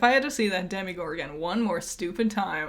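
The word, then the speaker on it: Demogorgon: If I had to see that demigorg again one more stupid time, I was going to explode. I don't care. Stop. That's how you pronounce that. Demi Gorgon.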